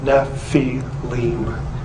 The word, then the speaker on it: Nephilim: constant of the devour this spelling is the ancient way of telling us that this is how you say the word Nephi Lim and therefore it cannot